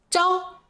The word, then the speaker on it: 着: 最后一个读音招，表示同意。